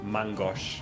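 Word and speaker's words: main-gauche: to clear this up it's pronounced mangosh because it's french like ma as in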